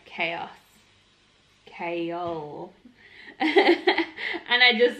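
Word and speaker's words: Chaol: it up the pronunciation it's kale not cow and it is nahimia not nehemiah kale and dorian are still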